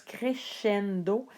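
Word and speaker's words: crescendo: a le son s ça se prononce comme nous on prononce le ch doncendo crendo ce que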